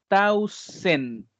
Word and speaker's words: thousand: Es que sería como, esto es más similar, esa TH que tenemos ahí, sería más similar a una T. Entonces sería como T-A-U. Thousand.